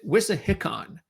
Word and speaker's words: Wissahickon: But what we do know, by the way, it's the Philadelphia Cricket Club and it's Whis Hickon. That's how they pronounce it. Whisickon.